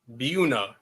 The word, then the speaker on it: Buena: Buena Bueno. No, I had to look that up. It's apparently Buuna. It's spelled Buenav Vista, but as a resident Mexican, I agree with Brad. Yeah, that's how it is.